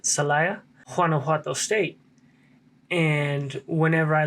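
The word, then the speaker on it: Celaya: like that in the city of salaya i believe that's how you say it salaya guanajuato state and whenever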